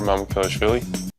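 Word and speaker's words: Mamukelashvili: Well, here is that guy pronouncing his name when he was still in college when he was at Satan Hall. My name is Alexander Mamukesi. Mamukesi. I gotta say, Vic did better than I could do, but that first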